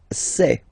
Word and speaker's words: sais: Je sais. Okay, final S not pronounced, and then you get this A-I, E. Okay, je sais, sais.